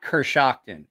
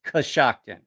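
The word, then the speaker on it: Coshocton: I don't know if you've noticed it's not Cur Shockton it's kashocton c-o-s-h-o-c-t-o-n c-o-s-h-o-c-t-o-n well I mean it is probably pronounced Kershaw yeah yeah you're right that's how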